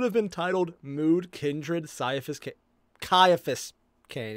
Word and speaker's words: Ciaphas: And that was what probably should have been titled Mood Kindred Ciaphas Cain. It's a hard C, not a soft C.